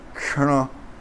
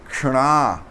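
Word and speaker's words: क्षण: Então, ele é Ksha, e o Hana, ele é um N, só que o N apontado no céu da boca, que faz R, R.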